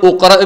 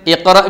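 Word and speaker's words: اقْرَأْ: എന്നിട്ട് നമ്മൾ ഉഖ്റ ബിസ്മിയും അഖ്റ ബിസ്മിയും അല്ല ഓതുന്നത്, ഇഖ്റ ബിസ്മിയാണ് ഓതുന്നത്. പക്ഷേ മുമ്പേ നമുക്ക് നാവിന് വഴങ്ങിയ പരിചിതമായൊരു സൂറത്തായതുകൊണ്ട് നമ്മൾ ഇഖ്റ ബിസ്മി ഓതിപ്പോകും.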